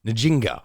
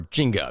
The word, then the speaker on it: Njinga: Netflix is this one nijinga or Jinga there's actually a number of different ways that you could pronounce the name and also hundreds of different variations apparently of how the name is spelled so it's very hard